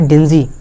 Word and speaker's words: dingy: अपना अगला वर्ड क्या है, डिंजी। अपना अगला वर्ड क्या है, डिंजी है। इसकी स्पेलिंग देख लो, इसकी स्पेलिंग क्या है, DINGY।